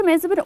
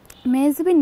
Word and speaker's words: মেহজাবী: আসলে আমার নামের উচ্চারণটা হচ্ছে মেহজাবী, ন বা এন এটা হচ্ছে গিয়ে সাইলেন্ট, সো ইটস মেহজাবী, আর এটা অর্থ হচ্ছে যার মুখ চাঁদের মতো।